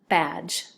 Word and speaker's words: badge: Okay, so when you listen to the sound at the end of the word, badge, page, this D is almost kind of like really silent, right? It's hidden in there.